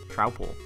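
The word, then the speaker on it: Troupple: Trowel. Pronounced like mouthful.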